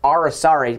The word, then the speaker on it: aracari: is Maya the green are a sorry a lot of people don't know how to pronounce that it's ara sorry pretty interesting name they're